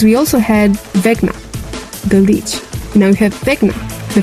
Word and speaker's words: Lich: Lich. The Lich. Not to be confused with a leech, but the Lich.